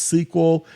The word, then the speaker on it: SQL: stands for structured query language and is sometimes pronounced sequel and it is a domain-specific language used in